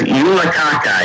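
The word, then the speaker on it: julekake: Back in the day, yeah, it's Yulakaka, yeah, but it's spelled K-A-K-A-K-E. So there you go.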